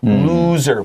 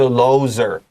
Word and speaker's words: loser: Now, author 这个 OR 发 ER, so make sure 你写一个 ER 在那个 OR 上面。而且 loser 请记得这个 loser O 是长双 O 的 like moon loser 不是 loser and written 特别小心 because